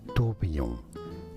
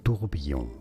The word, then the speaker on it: tourbillon: This is French for whirlwind, or whirlpool, or vortex if you wish. In French it is said as tourbillon, tourbillon, tourbillon.